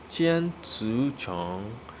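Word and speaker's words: 千足虫: Millipede in Chinese is a qian cu, qian cu, qian cu chong, qian cu chong, which is a meaning 1,000 foot insect.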